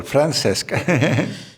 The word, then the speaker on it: Francesc: Am I pronouncing your name correctly? Francesc. Yes, very well, Francesc.